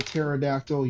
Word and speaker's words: pterodactyl: Why can't you hear a pterodactyl use the bathroom? I don't know why. The P is silent.